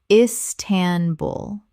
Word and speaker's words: Istanbul: Correct pronunciation, Istanbul. 3 syllables with the stress on the final syllable.